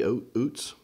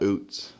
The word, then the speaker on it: Ouzts: based on the pronunciation guide. You disagree with that pronunciation? I do disagree with that. Now, give me a spelling on that. It's Ouzts. Ouzts, and the pronunciation guide says it's what? Oots. Oots. No, I don't know. I mean, I'm thinking branding here. If you're coming out of the bullpen and your name is basically Outs with a Z in